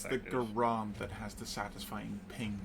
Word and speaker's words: Garand: Mm, Fun fact, it's actually pronounced Gerund. yeah, Is it? Yep. Is it? yeah. It's from the person who made it.